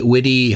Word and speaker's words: Vidi: I will pronounce it as my Latin teacher instructed me in high school. Weni Witty Flurfy.